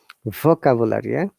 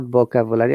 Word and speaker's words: vocabulary: b and v together in many cases our lens learners are confused they try to pronounce both of them either b or v okay um so these are some words like volleyball bravo another what is vocabulary vocabulary not vocabulary i've heard many people